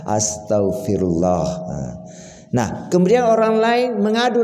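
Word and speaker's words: Astaghfirullah: ampunlah kepada Allah ya jadi Bacanya jangan istigfaristigfar tapi ya Astagfirullah nah kemudian orang lain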